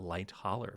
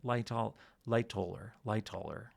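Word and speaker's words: Lightoller: I I don't know where I got light holler from. Um but someone pointed out that I've been I say his name wrong every time. I never really noticed that. I guess I just Yeah. Lighter. Loller.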